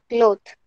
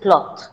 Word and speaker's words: cloth: did you pronounce this cloth it is cloth say with me cloth cloth now how do you pronounce clothes now you got the difference yes this is singular